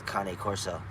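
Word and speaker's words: Cane Corso: of that, but um, it's Kanye, like Kane Corso. And I'm not saying that cuz I'm Italian, but like I believe that's how they say it in Italy is Kane Corso.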